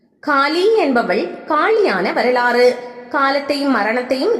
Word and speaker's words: காளி: என்பதால் காளி என்று அழைக்கப்பட்டாள் காளி என்ற பெயர் வடமொழியின் காலா என்ற சொல்லிலிருந்து உருவானது உண்மையில் காளி என்பதே சரியான உச்சரிப்பு ஆகும் காளி என்பதன் பொருள் காலத்தை